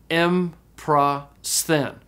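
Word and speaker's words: ἔμπροσθεν: You can't say the mu and the p sound together, so you have to syllabify between them. So this word is pronounced emprasthen.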